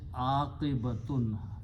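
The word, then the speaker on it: عاقبة: If I pronounce is aqibatun, fataha and small alif here, a, qaf with a kasra, aqi, ba with a fatah, and this ta, round ta, with a two pesh or two dhammas, brings the meaning of a feminine word.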